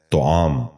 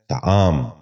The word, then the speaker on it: طعام: غور سے سنیے، طاہر۔ تیسرا لفظ ہے طعام۔ یہ غلط تلفظ ہے۔ درست تلفظ ہے طعام۔ دوبارہ سنیے، طعام۔ بچوں